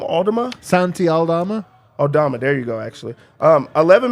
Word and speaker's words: Aldama: Aldama, there you go, actually.